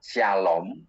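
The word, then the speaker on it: שלום: Demikian juga kita salaman dhisik, salam itu dalam huruf nulisnya itu SLM, dalam bahasa Ibrani membacanya shalom.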